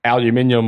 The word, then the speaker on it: aluminium: So tell us a little bit about Gulf Coast Aluminium, or Gulf Coast Aluminum, as you North Americans like to mispronounce.